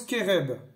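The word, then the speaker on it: חֶרֶב: C'est un nom féminin et ça se prononce kéreb.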